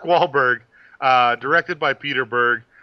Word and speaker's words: Wahlberg: to pronounce this mar mar wal it's a soft it's a soft R it's a soft R it's Mark Wahlberg uh directed by Peter